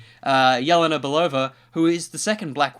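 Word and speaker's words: Yelena Belova: pure will be playing Ilona oh sorry I know this character so I should say it correctly Jelena Bulova who is the second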